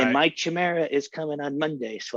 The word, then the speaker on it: chimera: it's about i think it's supposed to be pronounced chimera because i play a lot of video games but who knows maybe like in the knife world it's pronounced differently but i think it's pronounced chimera kind of like where